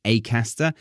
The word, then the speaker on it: Acaster: as glass and grass so that's why he says his name is James acter because it's a name I feel like I need to imitate that so yes it's a bit unusual for me to say acter but there we go his name is acter James acter and the book is